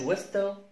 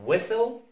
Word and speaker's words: whistle: الحالة الثانية لصوت التي هي لما تيجي في اس تي اي ال، المقطع اس تي اي ال في نهاية الكلمة لا ننطق التي، اس تي اي ال في نهاية الكلمة لا ننطق التي. فبص كده على الكلمتين دول، ما اسمهاش ويستل ما اسمهاش كاستل، اسمها ويسل ويسل ويسل كاسل كاسل كاسل.